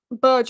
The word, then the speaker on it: Berge: I feel like, you know what, the more, like, Berge is how it's pronounced.